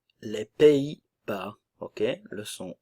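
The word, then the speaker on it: Pays-Bas: sono et norvégienne les Pays Bas les Pays Bas ok le son e i Pays Bas le S ne se prononce pas néerlandais la nasale en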